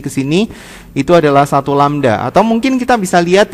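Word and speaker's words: λ: tulisin dalam bentuk simbol ini bacanya adalah seperti ini lamda atau panjang gelombang panjang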